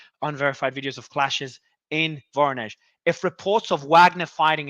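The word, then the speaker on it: Voronezh: than halfway to Moscow also how do you pronounce this so I get it right finally varnish correct thanks also yes okay foreigners is more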